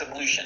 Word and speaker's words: ablution: I looked at it before, but I forgot how to pronounce it. Ablution, I said it right. It's ablution.